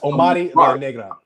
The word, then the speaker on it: Omari La Negra: That's Omari La Negra. Okay. So you got to say it with the Spanish.